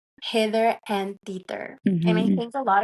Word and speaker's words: Hither and Tither: I love the name Hither and Tither. And I think a lot of people probably Question. question. They're like, how do you say this? Hit her, tit her, um, hither and tither.